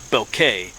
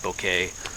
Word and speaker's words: Bouquet: the name down here sounds like Henry beauquette but it's French so it's I guess I'm pretty sure I'm saying it correctly bouquet um but Henry himself